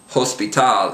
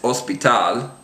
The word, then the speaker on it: hospital: It's not hospital, it's hospital.